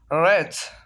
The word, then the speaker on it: wrath: Here the first W is silent. Wrath, wrath mean हार।